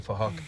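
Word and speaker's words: Phuc: His name is Fahak. It's spelled with a PH, so it sounds like Fahak.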